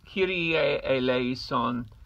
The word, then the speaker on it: Kyrie eleison: tenor tenors all tears the Latin pronunciation is cutie a a lace on Kiryat Eleison Kyrie Eleison q da la somes pretty easy it's the